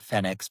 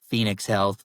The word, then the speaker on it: Fenyx Health: and and of course we put the Phoenix emblem on there to help you know pronounce it cuz some people have said FEX but phoenix health.